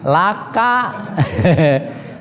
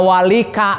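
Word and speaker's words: لك: Jangan dibaca Robbana walika, bukan begitu. Walaupun asalnya kan li ya teh. Asalnya li, tapi li ketika nyambung kepada domir mutasil seperti itu, maka menjadi la dibacanya. Laka, lakuma, itu kan lakum.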